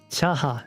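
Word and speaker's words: Chajá: Oh, chaha. All right. The the J is silent.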